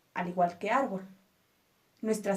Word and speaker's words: árbol: sílaba es tónica ejemplo árbol árbol tiene dos sílabas ar b y nuestra sílaba tónica es ar por lo tanto la consideramos una palabra grave arbol dos cuando terminan